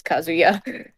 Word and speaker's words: Kazuya: say tomato tomato anyway you've been pronouncing it like it's kazoo and then with the ya at the end it is not kazoo there is no kazoo i like kazoos anyway